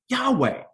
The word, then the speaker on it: Yahweh: to pronounce the word Yahweh, right? Because it's actually in the text, it's just YHWH, right? But what they gave us was the ability to pronounce it Yahweh.